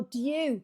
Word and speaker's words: due: With all due respect. With all due, but I would say Brits pronounce it the same as do, with all due respect.